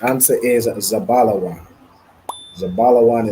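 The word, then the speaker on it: זבולון: Zabalawan is Zebulon in the Hebrew.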